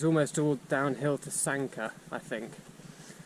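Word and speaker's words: Sanquhar: And then from around there, it's almost all downhill to Sanka, I think. Sanka is spelt Sanquahar.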